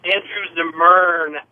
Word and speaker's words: Zimmern: your guest and your Andrew Zimmerman, except his real fucking name. It's Andrew Zimmern. Did you get the name wrong? No, it's Andrew Zimmerman. No, it's not.